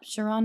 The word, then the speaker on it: Shiran: So, we have a special guest today, Shaon. Is that how you pronounce? Yep. Shiron.